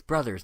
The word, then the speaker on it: Bros.: It's brothers, not bros. It's Super... Oh, no, it is Super Smash. It's both. Bros. I mean, it's spelled bros in the game title, on all the game titles, but, I mean, it's brothers. I mean, it's just an abbreviation.